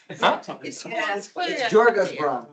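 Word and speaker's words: Djurgårdsbron: It's Jorga's Bron. No problem. That's how we pronounce it in Swedish.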